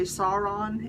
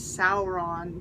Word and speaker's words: Sauron: like Sauron you know a lot of people say s on it's saour on you know and things